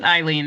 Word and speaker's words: Aileen: e first is it Aileen it's it's Eileen it's spelled with an A but just pronounced Eileen so thank you welcome